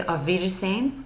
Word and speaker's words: auf Wiedersehen: theaters same figures name that W kind of makes a V sound so I am gonna say auf wiedersehen to you guys I